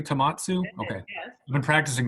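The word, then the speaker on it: Tohmatsu: Did I pronounce that correctly? Tomatsu?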